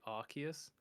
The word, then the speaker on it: Arceus: I believe they said it's officially Arceus Oh, so I said it right.